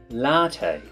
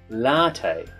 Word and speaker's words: latte: latte so notice that extra emphasis on the second syllable in the word latte it can also be